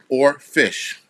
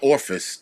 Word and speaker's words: oarfish: the surface all right or fish a or yes or but it's oarfish as in maybe I'm saying it wrong it's not orifice it's not office it's orfish and let's see what